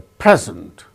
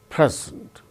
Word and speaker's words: present: chief guest presented a present so when it is used as noun it is present when it is used as verb present second syllable gains stress now let us